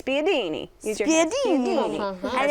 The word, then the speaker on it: spiedini: It's like you gotta say it like this, spiedini.